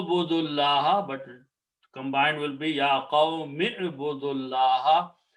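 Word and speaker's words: يَا قَوْمِ اعْبُدُوا اللَّهَ: So you do not pronounce this alif, you do not pronounce this waw, you don't pronounce this. Combine meme with the ayn. Ya qawmi budullaha.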